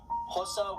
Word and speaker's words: Xhosa: Those are English, Afrikaans, Indebele, Pedi, Sotho, Venda, Xhosa, and that is Xhosa with a click, that's how you pronounce an X, Swazi, Tsonga, Tswana, and of course Zulu, with Zulu being one of the most spoken languages.